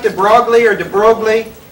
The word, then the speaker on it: de Broglie: yeah, it looks like de Broglie or de Broglie, but it's French, so of course it's not pronounced like it's spelled.